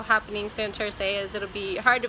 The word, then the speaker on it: Santurce: say it but that's how you say it Santurce sa NT you aren't Cee and we are